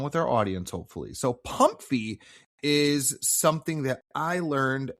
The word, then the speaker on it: PMMFI: Have you ever heard of the term Pum-Fee, which is an acronym, PMMFI, but pronounced Pum-Fee?